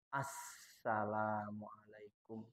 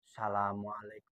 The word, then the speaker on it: Assalamualaikum: jadi bacanya begini Assalamualaikum karena alif lam Sin ada tahdid ada ada Jadi yang benar Asalamualaikum Jadi enggak boleh begini asamualaikum salam atau Asalamualaikum enggak sah karena enggak ada tasdid ada dua Sin ada